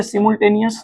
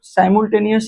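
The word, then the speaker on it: simultaneous: साइमलटेनियस या सिमलटेनियस जो भी आप प्रोनाउंसिएशन करते हैं साइमलटेनियस ही करिए।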